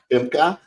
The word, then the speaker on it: Femke: We got her name, pronounced correctly, Femke.